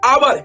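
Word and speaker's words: hour: आवर। यहाँ पे क्योंकि एच साइलेंट हो जा रहा है तो क्या पढ़ना है यहाँ पे? आवर। क्या पढ़ना है? आवर।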